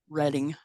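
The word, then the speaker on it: Reding: think that's I think it looks like reading r-e-d-i-n-g but they pronounce it reading and Laurel what is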